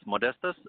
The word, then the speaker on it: Modestas: pronouncing your name yes modesties I'm from Lithuania and I cope it's from modesty so modesties this is my